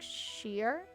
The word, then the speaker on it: shire: return the favor the in English place names are pronounced more like sheer Shropshire ah okay another